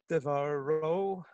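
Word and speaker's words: דְּבָרוֹ: Devaro. So the accent's on the ro.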